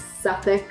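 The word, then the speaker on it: Suffolk: It's Lester Square, it's Greenwich, it's Suffic. Those are names that are difficult to pronounce.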